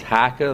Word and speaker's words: HEICHE: industrial park the name of that company is haika that's spelled h-e-i-c-h-e it's a german-based company and the